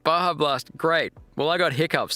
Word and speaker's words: Baja Blast: Oh, it's pronounced Baja Blast.